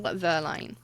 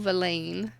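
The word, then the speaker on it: Verlaine: Autumn song by Paul Verline. Valain. Verlin. Everyone's saying it wrong. Autumn song by Paul Valain.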